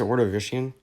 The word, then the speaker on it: Ordovician: Isn't it pronounced Ordovician?